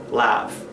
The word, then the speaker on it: laugh: which the consonants or the letters GH will make the sound F at the end, and the word will be pronounced laugh.